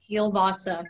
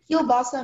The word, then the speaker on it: kielbasa: Kielbasa means an uncooked smoked sausage. Kielbasa. Can I have the origin? Kielbasa is from Polish. Kielbasa. Are there any alternate pronunciations? Yes. There is kielbasa, kielbasa, kielbasa, and kielbasa.